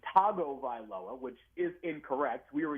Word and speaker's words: Tagovailoa: No, but you pronounce it Tagovailoa. You start with the tongue.